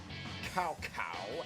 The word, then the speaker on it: Cao Cao: Wei has Xiahou Yuan, and Cao Cao. Sorry, Cao Cao, as it's pronounced in the earlier portions of the series.